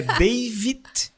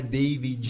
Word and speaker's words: David: Não Porque- é David, não é David. Não é Davi. Não tem é gente, Davi, é tem gente por aí me David. chamando de Davi. Não é David, meu nome. É David, bem como se pronuncia Isso.